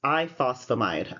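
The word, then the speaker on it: ifosfamide: It's iphosphomide. I think I added an extra syllable in there.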